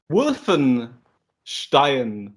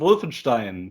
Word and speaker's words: Wolfenstein: actually it's like the it's like um wolfen stein wolfenstein in german castle wolf and wolfenstein yeah but american people say uh castle wolfenstein it's a it's an scht pronunciation it can go both ways it can go it can go stein or st like you know you